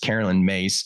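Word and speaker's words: Caroline Myss: for more information uh what's her name uh Carolyn mace it's uh spell it's spelled Carolyn and it's spelled Miss I can get you the information but it's pronounced Carolyn mace that's her name she wrote a book called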